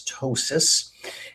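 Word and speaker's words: ptosis: We call it tois. And you spell that, it starts with a P, the P is silent. P T O S I S. Tossis.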